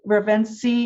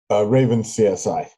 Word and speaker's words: RavenCSI: Ravenski, is that pronounced correctly? Raven CSI. Raven CSI.